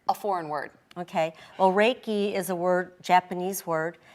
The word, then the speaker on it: Reiki: just a minute because Reiki so that's our e I ki what right it sounds like a foreign word okay well Reiki is a word japanese word and ray rei is pronounced ray and it is spiritual